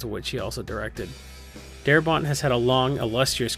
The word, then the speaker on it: Darabont: He pronounces it Darabont because France doesn't claim him. When he left France, he got to pronounce the T.